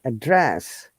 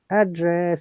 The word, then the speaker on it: address: live and remember and when it's verb we stress in the second part of the syllable of the word like address remember it is like first one upper intonation to down address look up to down and address down to upper there are hundreds of